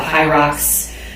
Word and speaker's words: HYROX: But also I'm familiar with kettlebells and weightlifting, Olympic lifting, and currently delving into the high rocks arena. If you're not sure what that is, it's spelled HYROX.